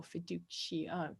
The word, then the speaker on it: fiducia: The first one is notitia, the second one is assensus, and the third one is fiducia, or fiducia. You could pronounce that with a hard C if you wanted to.